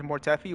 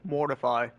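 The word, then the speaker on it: Mortefi: People pronounce his name as Mortffy or Mortify. You can go either or I'm cooked.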